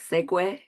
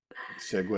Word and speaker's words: segue: that I learned it's I think it's pronounced like segue segue is good thank you our greeting